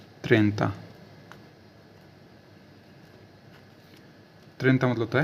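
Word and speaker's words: trenta: बोलते है टी आर ई एन टी ए त्रता त्रता मतलब होता है 30 ठीक है 30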